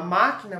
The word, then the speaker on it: máquina: Por exemplo, a máquina, você vai escrever máquina. Então, o ma é a sílaba tônica, ela é proparoxítona porque o acento, a sílaba tônica dela é a antepenúltima.